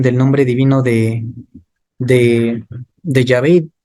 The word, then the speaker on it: Yahvé: Y los expertos hebraístas te dicen la pronunciación más acertada es Yahvé.